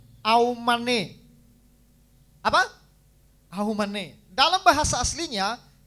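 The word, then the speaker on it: אָמֵן: Amin, Bapak Ibu, dalam bahasa Ibrani kuno diucapkan aumane.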